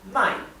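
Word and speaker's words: 卖: es menos determinante sí my es comprar pero recuerden que les había explicado que cuando cambiamos el tono y usamos el cuarto tono my significa vender así que tenemos que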